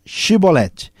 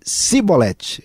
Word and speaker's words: chibolete: respondesse que não diziam Então diga chibolete se ele dissesse simbolete era uma questão linguística fonética sem conseguir pronunciar corretamente a palavra prendiam não e matavam